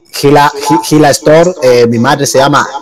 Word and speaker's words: Gila: Y Gila Store, mi madre se llama Hilaria. Entonces cogí Hila y me gusta pronunciarlo Gila para que...